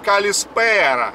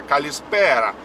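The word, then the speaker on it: καλησπέρα: И точно так же, как калимера, точно так же ударение идет калиспера. И тоже немножко нараспев. Да, калиспера.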